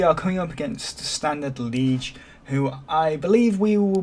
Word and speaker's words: Liège: I believe you go to a lower pitch, so it's Liège, like that.